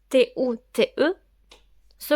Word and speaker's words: toute: ou t se prononce tout au féminin singulier T ou T e se prononce toutes au masculin pluriel T ou s peut